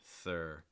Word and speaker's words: third: suggestion is you know pronounce the r sound first then you can worry about the th r r third r thur hey rhonda thanks for